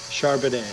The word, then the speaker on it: Charbonnet: Charbonnet. Charbonnet? Yes. Like Chardonnay, but Charbonnet?